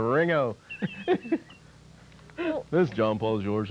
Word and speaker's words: Ringo: It wasn't Ringo. They never got the whole G out. It wasn't a hard Ringo. G. It was just kind of a soft G. All running together. Ringo.